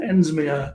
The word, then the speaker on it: Ensminger: healer psychic and so guides the amazing Christina ends Maya Chrystia yes thank you for that introduction that was wonderful you even pronounce my last name correctly so you've been